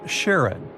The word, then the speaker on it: Charon: the most mysterious one, Charon, also pronounced Sharon. So, you can pronounce it however you like. I'm going to go with Sharon.